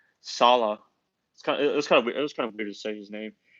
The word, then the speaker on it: Saleh: I call him uh Saleh or something like that. Salah.